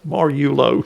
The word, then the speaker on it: Mariulo: Mariulo, sorry. You don't pronounce the I.